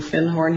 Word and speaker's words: Findhorn: And he corrected my pronunciation. He said, you mean Findhorn?